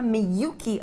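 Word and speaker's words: Miyuki: um so those are your miuki get it pronounced right now miuki lovely name as well miuki sounds awful so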